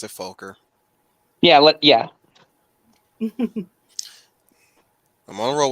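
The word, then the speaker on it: Focker: him on Pronounced his Fokker. left, I pronounce it Folker.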